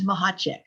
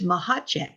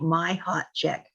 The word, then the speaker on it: Machacek: get that nope nope it's mahek and it's Czechoslovakian and the first sea is silent so I tell people it's like you you pronounce it like my hot check my husband was Czechoslovakian